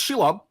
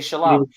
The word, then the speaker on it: Shelob: Yeah, It's she it's Shelob. Yeah. Very, very. Some You say did a great job. Some say shalom.